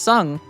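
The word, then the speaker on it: Tseng: His name is pronounced Sung.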